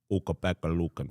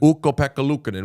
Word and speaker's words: Ukko-Pekka Luukkonen: You know that it is pronounced... Ukko-Pekka Luukkonen. Ukko-Pekka Luukkonen.